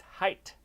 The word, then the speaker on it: height: Since height rhymes with fight or might, why do I say height?